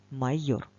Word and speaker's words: майор: її будь ласка самостійно майор визначимо наголос в цьому слові покличемо його майор на який звук паде наголос так довше ми промовляємо звук о тож це наголошений звук майор А що це